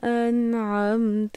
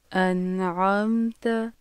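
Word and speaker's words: أنعمت: صراط الذین، صراط الذین۔ انعمت کی صحیح اور غلط ادائیگی سنیے۔ انعمت، انعمت، پھر سے سنیے۔ انعمت، انعمت، انعمت، انعمت.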